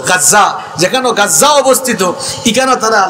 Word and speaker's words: গাজ্জা: ইগুনতে মানচিত্র আঁকতে গিয়া বর্তমানে ফিলিস্তিনের গাজ্জা যেখানে আপনারা গাজা কেন আরবির উচ্চারণ হইল গাজ্জা, যেখানে গাজ্জা অবস্থিত ইখানে